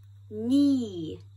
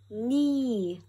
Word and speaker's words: knee: Knee. Knee.